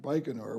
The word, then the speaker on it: Baikonur: You also mentioned that you got lost in a place, if I pronounced it right, Baikonur? Baikonur.